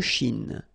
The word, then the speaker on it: Chine: La mer de Chine. Remember, don't insist on the E. Chine. Okay?